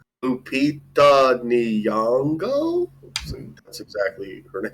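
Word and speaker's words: Lupita Nyong'o: Like Lupita Nango.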